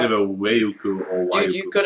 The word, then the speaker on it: Waiuku: Is it Waiuku? That's correct.